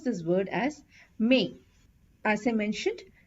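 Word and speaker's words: mais: pronounce this word as may as I mentioned we generally don't pronounce the last letter of the word if it's a consonant except for the consonants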